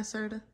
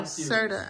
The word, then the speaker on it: Serta: size mattress how do you say it I sorta High School oh Serta I Series yeah I Series so I don't